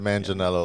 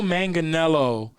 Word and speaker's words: Manganiello: his name joe manchinello i think it's manganello i said man janello last time and dave corrected me okay so joe manganiello uh they want him